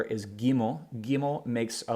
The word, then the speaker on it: Gimel: So Gimel, always pronounced as a G. So we have Aleph, Bet, Gimel.